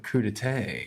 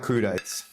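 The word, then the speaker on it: crudités: I actually had to look up how to pronounce that word. Crudete. It's not crudit, which is if you look at the spelling.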